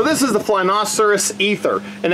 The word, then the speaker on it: Æther: fly masterís ether and it has a combo AE letter at the beginning but asked one of the employees and they said pronouncing it ethers probably right because that's how he pronounces it so we'll go with it now it seems to